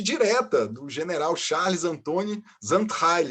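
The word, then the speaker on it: Xaintrailles: Outro caso mega curioso, documentado também, é da Madame Zandheil, né? A pronúncia correta é essa.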